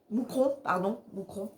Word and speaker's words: Mouscron: Moucron. Ça s'écrit Mouscron, mais c'est Moucron. Enfin, du moins, il me semble, hein, les Belges, c'est Moucron.